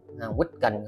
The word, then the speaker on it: weekend: weekend không à, đó, các bạn đừng đọc là week, mình chỉ cho một cái mẹo nè, đọc cái gì chữ we các bạn, chúng tôi ha, we, rồi nhấn lên là we, we, rồi ở đây là âm e, chứ không phải là âm n, âm ờ, phải là n, mà là and. Đúng là chữ kết thúc đó đúng không? Đọc là weekend, weekend.